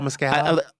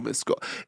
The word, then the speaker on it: Mescal: Or Paul Mescal?